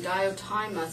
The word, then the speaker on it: Diotima: In Plato's Symposium, I believe you pronounce her name, Diotima, speaks about love as being between the mortal and immortal, an intermediary between gods and men.